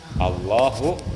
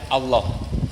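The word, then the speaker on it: الله: bahasa Arab yang kedelapan tidak memanjangkan hamjah Allah tidak memanjangkan Hamzah Allah alifnya tu jangan dipanjangkan kan bunyi Allah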